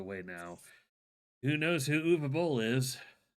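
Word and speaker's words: Uwe: Who knows who UVA is? I don't. Please inform me. Okay. Oh boy. Uvabol uh is his name is spelled u we b o l l but it's pronounced uva I think he is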